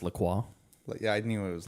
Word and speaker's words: LaCroix: You know it's actually pronounced LaCroix?